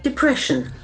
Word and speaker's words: depression: a very interesting verting depression depression accent Falls in second of depression so normally this is